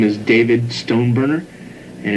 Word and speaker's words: Stoneburner: okay my name is david stone burner and it's spelled d-a-b-i-d s-t-o-n-e-b-u-r-n-e-r stone burner and i am the television production